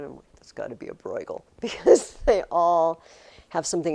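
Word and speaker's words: Bruegel: Um, this artist's name is Peter Bgal. Bgal. It's spelled B R EU.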